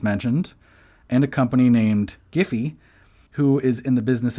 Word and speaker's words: Giphy: none it's like yeah it's giphy with a hard g okay but then why